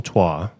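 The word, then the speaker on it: Troyes: the air okay uh it is uh spelled t r o y s uh pronounced TWA and they don't do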